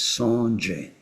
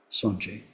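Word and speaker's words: སངས་རྒྱས: So the Tibetan word for Bud has two syllables. That's the best they could do. It's Sanje. Sanje. Sanje. Sang, the first syllable, evokes one basic meaning, which means totally pure.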